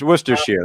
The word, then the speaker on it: Worcestershire: neck of the woods say that twice worcestershire it's worcestershire that's how you pronounce it worcestershire and because he's using